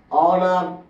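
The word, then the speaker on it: honour: থাকে H silent থাকে কিছু নির্দিষ্ট শব্দে এইচ সাইলেন্ট থাকে যেমন আওয়ার অনার আওয়ার অনার তারপর বলতে পারেন অন এইচ ই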